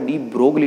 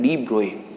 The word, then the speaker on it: de Broglie: ठीक है ना, ये एक्चुअल में जो वर्ड है वो डी ब्रोगली नहीं, हम जनरली इसका जो प्रोनाउंसिएशन करते हैं वो डी ब्रोगली करते हैं, जबकि ये वर्ड क्या है डी ब्रोए, because French word है।